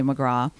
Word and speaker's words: McGrath: i love is is when someone asks me my my last name i say mcgraw and they're looking well wait a minute and how do you spell it so i spell oh oh oh mcgrath yeah no mcgraw yeah do you ever